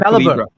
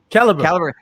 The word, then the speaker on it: Caliber: Which one is it? Caliber or Calibra? Caliber. See, okay, I've been saying it right all the time.